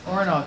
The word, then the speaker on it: Orenaug: Orenaug, I said it right. Orenaug Mountain Publishing 10th Poetry Anthology, edited by Sandy